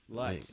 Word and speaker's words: Lutz: Well, that's the German pronunciation, Lutz.